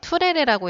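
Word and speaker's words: Turere: 투레레라고 읽어요.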